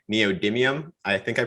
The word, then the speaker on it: neodymium: don't know a lot about myself it's called neodymium i think i pronounced that correctly that's right yeah neodymium cool and i know that they're used in